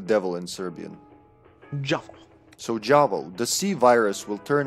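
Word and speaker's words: J'avo: perfect placement perfect so in the game they pronounce it huo or something like that but it's not that's not how I guess they didn't get this the memo it's supposed to be pronounced jao which literally means the devil in Serbian jav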